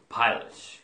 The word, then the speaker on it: pilot: 서양인들의 느낌이 어떠냐면 pilot 이렇게 해요. pilot. 파일럿. 파 여기다가 pilot. 여기다가 강세를 주는 거예요.